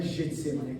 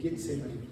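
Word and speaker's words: Getsêmani: de En-Gedi, ou En-Gedi, que no hebraico é Ge a pronúncia, sempre é Ge, tá? Tanto em grego quanto em hebraico, não é Getsemane, é Getsemane, sempre o G é Ge.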